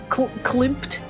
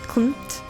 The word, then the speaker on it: Klimt: I try to pronounce it with the M, but I can't do it. Like, it Klimt? feels weird in my mouth. Klimt? Klimt. Klimt. It's almost like you have to say Clement. Klimt.